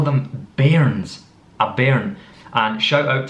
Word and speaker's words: bairn: previously, we call Wains, children, we call them bairns, a bairn. And shout out to Falkirk Football Club, we're fans of Falkirk Football Club because their club is nicknamed after this word. They're called the bairns.